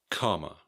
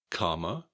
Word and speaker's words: comma: Comma. Compared with the word coma. Comma, coma.